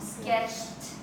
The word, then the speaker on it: sketched: Okay, this one has the T sound, sketched. Like as if it had a T.